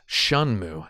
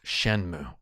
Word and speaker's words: Shenmue: Also, while we're here, it's pronounced Shunmu, not Shenmue.